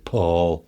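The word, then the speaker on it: Pål: The Yeah, it's it's spelled P A L, but it's got an it's got a circle over the A, which means the A is pronounced O, so it's Paul.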